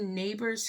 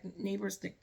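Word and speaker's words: Nabers: to shout out Janine neighbors who also I think that's how you say her name because it's spelled n-a-b-e-r-s I think but I'm thinking you pronounce it like neighbors next door neighbor knock knock um but um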